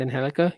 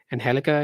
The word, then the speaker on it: Angelica: know the she is she is mexican so angelica it is um i i i